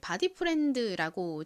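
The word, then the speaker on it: Bodyfriend: 소리 드 소리 나서 읽어보면가 됩니다 한국식으로 디 프렌드라고 읽는데요가 뭔가요 친구를 의미하는 단어죠 는 회사에서 브랜드 이름을 바디 프렌드라고 지은 이유는이 마 의자가 몸을 이렇게 풀어주는 편안하게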